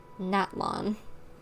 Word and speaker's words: Natlan: Natlan. Okay, good to know that's how I pronounce it.